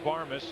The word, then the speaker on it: Barmes: at their TV saying, say his name right. It's Barmes, and it's out number 2 in the 5th. And there's that nice play by Renteria. He's hustling down the line. Barmes.